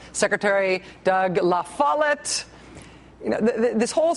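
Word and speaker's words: La Follette: Okay, so to be clear, the think tank in Michigan, like the island, is called Meno. I can be spiteful about it, but it's still Mackeno. The city in Wisconsin is called Fondulac. And the Secretary of State in Wisconsin is called Doug Lafalit.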